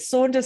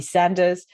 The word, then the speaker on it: Saunders: So if you've got a name that's often mispronounced, mine, you can't get wrong really, but Saunders, sometimes it might be Sanders.